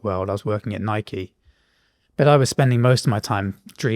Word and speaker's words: Nike: It's Nike, is it?